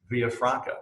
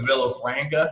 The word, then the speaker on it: Villafranca: dev uh today's illustrious guest is mr alex villafranca from arbeit software and uh now i assume